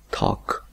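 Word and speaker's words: talk: anteriores el verbo tok si usted se fija en la l no se pronuncia simplemente pronunciamos toc toc puedo decir entonces hay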